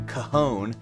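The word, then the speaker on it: cajón: chair you know again can you pronounce the name of this yeah kahone kahone we call it a kahon yeah yeah exactly yeah c a j o n right you know probably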